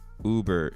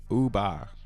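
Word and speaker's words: über: German word is not Uber it the German word is uba not Uber I wish I could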